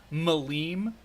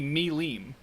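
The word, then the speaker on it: Milim: way means yeah nah see maleem like it's m-i-l-i-m why does the first I and the second I not have the same pronunciation it had to be me lim and that sounds really bad I know I know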